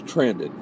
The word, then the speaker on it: Trandon: I'm Trandon. I'm hoping I'm getting it right now, And he likes to say it's Brandon with a T. So it's Trandon, okay?